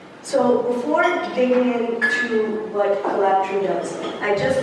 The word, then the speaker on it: Kolabtree: It's pronounced Kolabtree, but like Kolabtree, it's but there are more ways to say it.